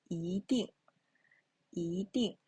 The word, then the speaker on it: 一定: So when 一 is followed by a syllable in the fourth, it changes into the second tone.